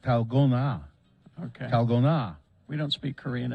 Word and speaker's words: dalgona: d-a-l-g-o-n-a okay but it is it's Korean it's pronounced talgona okay we don't speak Korean in my house